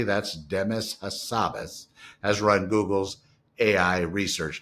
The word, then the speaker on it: Demis Hassabis: Demis Hassabis, phonetically that's Demis Hassabis, has run Google's AI research division, called DeepMind,